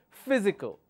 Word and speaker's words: physical: next one is I physical so the the third from the uh from the right anti penultimate will have the stress physical all right if I